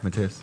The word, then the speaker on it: Matthias: Is that how you pronounce it? Yeah, Matthias.